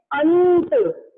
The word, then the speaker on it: अंत: जैसे कि हम इसे बोलेंगे अंत, अंत, अ के बाद फिर आधा न और फिर त।